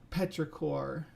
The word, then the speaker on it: petrichor: The word is petrichor.